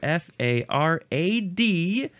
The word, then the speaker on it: farad: why uh number two I don't know how to pronounce this exactly farad or fer R um let's just do a quick look into our future our near future f a r a d uh it's farad Farid yeah that's pretty much